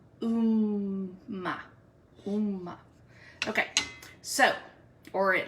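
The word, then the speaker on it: Upma: So we are, the way you spell this is U-P-M-A, but it's pronounced Umma.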